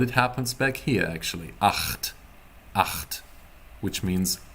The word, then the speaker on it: Acht: Acht. It happens in your throat, people. Ach. It's like if you're gargling water, you know? Try to gargle water in your brain.